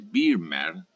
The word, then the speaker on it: Vermeer: que se llama vermeer se escribe vermeer y vermeer se dice vermeer de delft que es